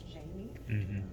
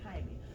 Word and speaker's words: Jaime: The other thing that resonated with me was the microaggressions, specifically when Jaime went to court and the receptionist kept mispronouncing his name as Jamie.